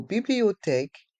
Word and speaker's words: bibliothèque: la bibliothèque la bibliothèque dans le mot bibliothèque le H est mué bibliothèque et le Q et le U on le son que bibliothèque la bibliothèque le